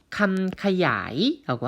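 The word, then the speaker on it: คำขยาย: 수식어는요, 태국어로 감카야이라고 합니다. 감카야이, 감카야이. 다시요. 감카야이라고 읽힌다라고 보시면 되겠습니다.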